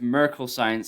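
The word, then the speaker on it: Merkle Science: decentralized or centralized and it's actually pronounced miracle science sorry for that next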